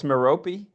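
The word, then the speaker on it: Merope: uh the reflection nebula is that pronounced mope or meropi I think it's meropi meropi okay but that's the star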